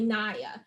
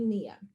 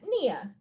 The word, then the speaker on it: Nia: it without commentary so sometimes people um will say my name and they might say naya and i'll say oh well it's actually mia individuals who um may